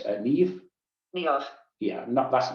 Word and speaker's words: Niamh: So another nice option, similar vein, if we look at the Irish word, female names, Niamh.